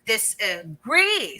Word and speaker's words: disagree: say disagree. So we're already trying to emphasize more the second syllable agree.